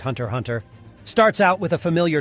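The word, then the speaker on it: Hunter × Hunter: number two Hunter x Hunter Hunter x Hunter pronounced Hunter Hunter starts out with a familiar Trope a hero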